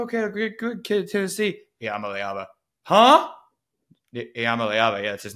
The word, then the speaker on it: Iamaleava: on the man, the myth, the legend, Nico Iamaleava. We're going to say it over and over until everybody who listens to this show knows how to say his last name, Nico Iamaleava.